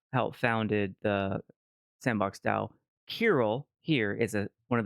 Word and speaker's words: Kirill: thank you and and you pronounced your name koll yeah koll not to be confused with Cil who is also in